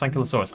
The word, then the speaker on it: Ankylosaurus: See, I disagree that Ankylo rhymes with Kylo. I think it's Kilo. Kilo. How do I pronounce Ankylosaurus?